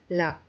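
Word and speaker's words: ल: The next letter is la. The sound of la is pronounced as la like the la in the English word lamb.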